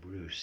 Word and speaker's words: Breus: And Bruce is spelled Breus.